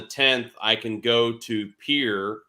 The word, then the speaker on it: Pierre: if I leave on the 10th, I can go to Pierre, even though it's spelled Pierre, South Dakota, to my buddy's bar, the Grey Goose.